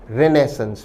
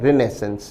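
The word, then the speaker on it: Renaissance: Option A एक बहुत अच्छा शब्द है रिनेसेंस। विद्यार्थी ध्यान दें इस शब्द का ब्रिटिश उच्चारण है रिनेसेंस। जबकि इसका जो फ्रेंच उच्चारण है जो भी काफी पॉपुलर है वो है रिनेसोंस।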